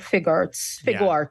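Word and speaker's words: Figuarts: It's SHF Figure Arts, right? SHF Fig Arts. Okay, yeah, Fig Arts.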